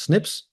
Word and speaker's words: SNPs: what they call Snips snps which it's pronounced Snips to provide insights into